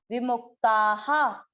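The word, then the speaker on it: विमुक्ताः: अब मुंह के बाद आधा क है तो मुख, विमुख, ता के बाद विसर्ग, विसर्ग का उच्चारण इसकी मात्रा पे, आ की मात्रा है तो विसर्ग को पढ़ा हा, विमुक्ताहा, विमुक्ताहा।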